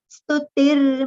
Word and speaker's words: स्तुतिर्: Stutir, stutir, t will have partial ra sound because mau has got rafar, isn't it? So partial ra sound will come with t. Stutir mauni, both letters with the long pronunciation.